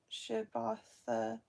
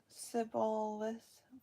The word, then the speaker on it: Shibboleth: If he said no, then they would say to him, 'Then say Shibboleth,' and he would say Sibboleth, for he could not pronounce it right.